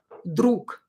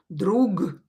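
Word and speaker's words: друг: unvoiced je will become another example with voiced consonant would be druk a friend you know this one right this word druk drake you can hear that i don't pronounce gay here don't say drug drug because it's a little bit complicated to say that so voiced consonant will be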